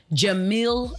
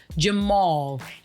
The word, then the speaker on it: Jamil: party was done by act Jamil not Jamal at Jamil not Jamal and that is spelled Jamila's